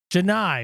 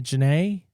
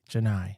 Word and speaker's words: Janai: Janai, welcome in. Do not say Janae. Do not say it. Don't say it that way. Janai.